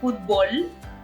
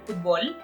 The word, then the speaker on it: futból: United States, we love football. We just mean completely different sports when we say the word football. So in Mexico, we say football, like there's like a stress in the O, yeah, football.